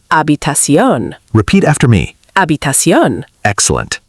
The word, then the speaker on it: habitación: simple and clean, Another mistake is pronunciation. especially with habitación. Some learners say habitación. But native pronunciation sounds closer to habitación.